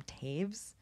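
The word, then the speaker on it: Toews: the author's last name because it's spelled very differently than it's pronounced it's Miriam Taves but it's to it's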